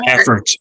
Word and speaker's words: Baffert: Baffert.